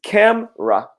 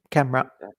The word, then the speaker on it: camera: again can you repeat camera perfect so everybody noticed that the e here the e is silent so it's not cat Mara it's camera get two sounds two syllables yeah camera and this one again